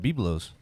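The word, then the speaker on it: Byblos: That's one of my favorite things at Biblos. And that's pronounced biblos.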